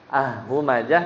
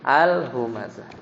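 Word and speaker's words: الهمزة: Ya kan bacanya bukan humazah tapi al-humazah.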